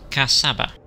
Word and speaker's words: Kasaba: I pronounced this wrong last time I looked at it. This is Kasaba.